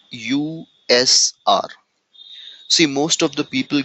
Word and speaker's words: usr: UNIX sharable resources so I personally don't like uh pronouncing it user many uh experienced people or very high level people also pronounce is user but I personally uh feel it calling it a separately USR instead of calling user as it may give